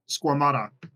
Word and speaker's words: Squamata: And how do you pronounce it? The order Squamata.